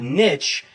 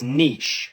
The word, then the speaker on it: niche: It's not niche, it's niche.